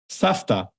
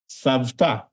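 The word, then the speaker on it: סבתא: In other words, for example, Safta. Safta, grandma, is spelled as if it's supposed to be savta. Mhm. But again, with the voice v, same, but we pronounce it safta because again, the ta, that's unvoiced consonant, and Mhm.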